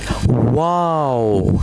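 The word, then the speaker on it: واو: The next letter is Let's read wow. Yes. It is just like wow. Wow. Okay? Yes. This shape, then this shape. Wow. Wow.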